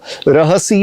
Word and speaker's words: रहसि: रहसि में सी की मात्रा ह्रस्व छोटी वाली है और इसलिए रहसि स्थितः इस तरह से मैंने बोला।